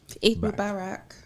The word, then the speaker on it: Eid Mubarak: Eid Mubarak. Thank you very much. Did I pronounce that correctly?